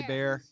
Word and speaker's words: Hebert: It's Hebert. Hebert. H-E is silent and pronounced like an A. Like a bear is attacking me.